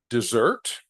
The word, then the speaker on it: dessert: to proofread and revising Dessert versus desert now this is a spelling trick dessert because of the two s's notice I pronounce it differently these letters the two